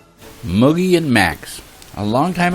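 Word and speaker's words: Mucki: One was a rabbit named Moogie, that's spelled M-U-C-K-I, Moogie, whose breed was a Dutch miniature, and a wire-haired terrier named Max.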